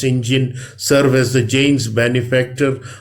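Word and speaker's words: St John: along with his sister Marion Janus and John pronounce Sinjin serve as the James benefactor after she runs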